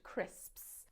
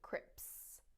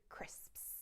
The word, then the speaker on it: crisps: for learners of english it's the s sound at the end crisps you'll find a lot of people mispronouncing them as crips crips when they should be crisps so here is the